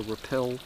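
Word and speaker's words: RAPPEL: remote areas called a Repel group not sure what that stands for but r p e l uh or something like that might be roup I'm not sure anyway it's pronounced repel so she's in a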